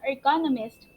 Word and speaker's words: ergonomist: So ergonomics can roughly be defined as the study of people in their working environment, more specifically, an ergonomist, pronounced like economist, designs or modifies to work to fit the worker, not the other way around.